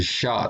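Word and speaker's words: Xia: We see this attached to the legitimacy of the first Chinese ruling dynasty called the Shah Dynasty. That's spelled X-I-A.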